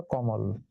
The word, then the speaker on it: কমল: তাহলে সেই অ, তার আগে কি আছে? ক, ক এর সাথে কি আছে? অ। তাহলে শব্দের আদিতে ক এর সঙ্গে অ থাকার কারণে মাঝে ময়ের সঙ্গে যে অ আছে সেই অটা এখন ও হয়ে গেল, মানে সংবৃত হয়ে গেল, এই জন্য হয়ে গেল কমল।